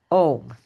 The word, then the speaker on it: Om: Okay, Om. Om is actually 3 syllables.